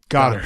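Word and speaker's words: Goedert: Is Goddard? Goddard. You were right the first time. Just Goddard. Yep. Yeah. But it's spelled Goed.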